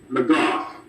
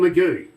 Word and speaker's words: McGough: Is it Chris McGowan? McGough. McGough. Okay. Yes, sir. Didn't want to call him Magoo.